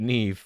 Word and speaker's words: Neve: Yeah, I don't know, but Neve would be how you pronounce that. It doesn't usually have an E on the end, but there you are.